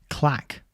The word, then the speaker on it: claque: So it's kind of like the word clique, isn't it? I suppose nowadays we would say clique with an I, but back then in the 60s, it looked like they said claque with an A.